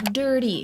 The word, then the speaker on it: dirty: Dirty. Let's practice the first part as if we were saying sir, but der.